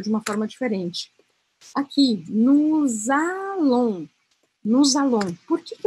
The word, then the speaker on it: nous allons: Eu não vou falar nous allons. Lembra que a gente não pronuncia o S no final das palavras? Aqui eu vou falar nous allons. Eu vou grudar a sonoridade.